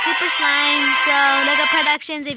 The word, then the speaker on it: Super Slime: saying my name wrong it's not super slim it is super slime like you know when you make slime yeah and you see my picture that looks like slime yeah it's super slime so look at Productions